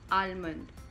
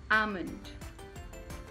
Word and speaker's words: almond: And commonly pronounced as almond. Some people like to call it almond, but that's again incorrect. Correct pronunciation is almond. Almond. L is silent.